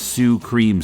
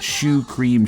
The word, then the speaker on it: Shu cream: a band whose name you'd be forgiven for reading as Sue cream Sue but it's meant to be pronounced Shu cream shoe Sho cream is Japanese for a cream puff Wikipedia says the song